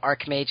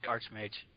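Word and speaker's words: archmage: Arch Mage even though Arc Mage is how it is pronounced I say Arch Mage wait I say Arch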